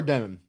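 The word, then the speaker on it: Demin: Igor, how do you pronounce Demon, the last yeah. name? Igor Demon.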